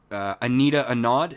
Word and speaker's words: Anita Anand: I mean, right now, I think Anita Anand, is that how you pronounce the procurement minister's name?